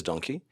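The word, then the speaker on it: Dunki: It is Donkey, but the way a part of the country pronounces donkey in India is donkey. The Punjabis, they say donkey.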